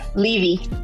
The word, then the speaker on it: Levy: It's pronounced Levy or Levy? Levy.